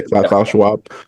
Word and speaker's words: Klaus Schwab: You hear about Klaus Schwab, and all these different things. I'm not even sure if I say his name right. Klaus. Yeah, you had it right the first time. Schwab. Yeah, Klaus Schwab.